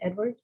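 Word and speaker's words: Eadward: is King Edward and it's spelled e-a-d-w-a-r-d so it's it's still pronounced Edward it's Edward yeah I just again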